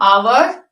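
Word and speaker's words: hour: इसमें जो एच है इसमें भी साइलेंट है, तो इन दोनों वर्ड्स को हम आवर, ऑनेस्ट इस तरह से पढ़ते हैं।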